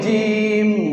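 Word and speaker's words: جيم: একই সুরতে 3 হরফ, নিচে এক নুক্তা হলে জিম। জিম কেমন করে উচ্চারণ হবে? জিবের মাঝখান আর উপরের তালু, জিবের মাঝখান উপরের তালু, আর শেষে 2টা ঠোঁট মিলে যাবে শব্দ শেষে, জিম।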